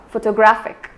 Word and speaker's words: photographic: syllable so photography similarly if we consider the word photographic the stress is not given on the initial syllable neither is it given on the second level instead it is given on the third syllable girl photographic so the best way